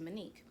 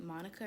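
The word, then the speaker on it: Mon'que: spelled m-o-n apostrophe q-u-e it's pronounced monique um this guy at work yesterday he asked me he was like hey um how do you pronounce your name is it monica or monique and i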